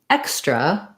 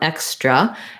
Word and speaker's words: extra: So in the word extra, we have the stress on the X syllable, and it has the clear vowel like red.